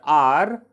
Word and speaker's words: hour: When we pronounce the word are, the sound which is coming is this word are starts with the vowel sound a, not ha, it is a. Okay. So it H is silent in those places.